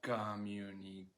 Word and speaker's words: communication: use a lot communication where is the stress in this word communication common engagement can you push your hand on the stress syllable communication yeah so the verb is